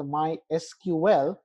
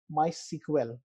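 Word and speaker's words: MySQL: is my sequel so either you can call it as my SQL but people from old school always call it as my sequel so the pronunciation is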